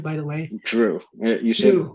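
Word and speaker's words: Jrue: name by the way Drew you see it's just like Drew Brees Drew holiday right Drew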